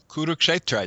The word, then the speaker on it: Kurukshetra: So you're dealing with a text that's connected to an identifiable geographical location, and correct me if I pronounce this wrong, but Kurukshetra? Kurukshetra, yes.